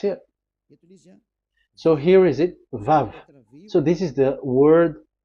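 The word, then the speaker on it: ו: We called it as Vav. Vav. Your claw, your mouth is like closed. Vav. So it's V as in Vogue.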